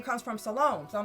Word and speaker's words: Salome: the garden with Salome, which I guess I've been pronouncing it wrong, because it comes from Shalom, right? So I guess it's Salome, right? Her name comes from Salome.